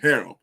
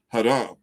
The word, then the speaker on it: haram: say uh harem you know in english they pronounce it harom in in in uh arabic it's pronounced haram where you have more than you should have